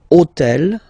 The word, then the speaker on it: hôtel: And third example, so I took on purpose this hôtel, okay, because it starts with H, but remember that in French we don't pronounce H, okay, so basically the